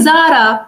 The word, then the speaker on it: Zara: So, it's not you are not saying Jara, you are saying Zara, which is correct.